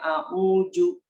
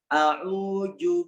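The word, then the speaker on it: أعوذ: Dalam lafaz a'udzu billahi minasyaitonir rajim ya, kita membacanya a'uju, ada yang membacanya a'uju, membacanya dengan jim ya, bukan dengan za gitu ya. A'udzu billahi minasy gitu ya. Nah, padahal di situ adalah huruf zal, a'udzu gitu ya.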